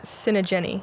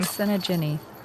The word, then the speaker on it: Sinageni: Leah Sinageni is how you say that last name. Sinageni.